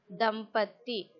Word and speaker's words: दंपति: See children here, the ma is halfly joined to pa, so we'll pronounce im. The empty. Dampati.